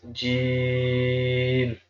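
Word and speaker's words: ج: dot in the middle, and this can be pronounced Jeem, Jeem, Jeem.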